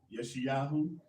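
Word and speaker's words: ישעיהו: Yeshayahu. Right, that's the exact pronunciation of what we say Isaiah.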